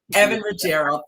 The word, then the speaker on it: Evan Ruggiero: Evan Ruggiero.